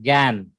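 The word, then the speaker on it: גן: right pronunciation. Gan.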